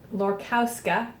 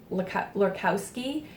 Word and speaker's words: Lorkowska: This is Saunder, and it's by Justina Lorkowska. I can never say her name. I always say Lorkowski, and I think I've